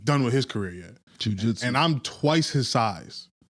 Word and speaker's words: jiu-jitsu: Jiu-jitsu. And I'm twice his size, probably twice his strength, and he fucked me up for 2 hours. What does jiu-jitsu?